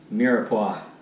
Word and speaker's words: mirepoix: This is also known as a mirepoix. I'm probably saying that incorrectly. I'm going to try it out here. Just confirm my saying. Let's see. Mirepoix.